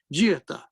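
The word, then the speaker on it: جئتَ: Jiyata. You got to pronounce this properly. Hamza with the sukun.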